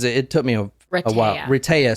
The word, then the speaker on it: Rehtaeh: tonight this is a Reta Parson story so Reta as you'll you you probably need to say her name a few times cuz it took me a while Reta so it's Heather spelled backwards but you you'll see